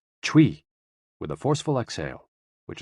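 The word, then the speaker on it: chui: associated with the lungs c-h-u-i pronounced like tree with a forceful exhale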